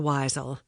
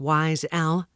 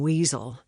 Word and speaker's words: Weisel: If there was one thing Elijah Weisel, which was actually pronounced with a long I, like Wise L, could say was responsible for his lack of success in life, it was his name.